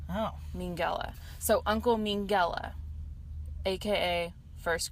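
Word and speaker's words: Mengele: as uncle mean and how you pronounce his last name is mean gala Oh Minghella so uncle Minghella AKA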